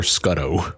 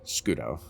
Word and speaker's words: Scudo: Is that pronounced Scudo or Scuddo? Scudo. Scudo.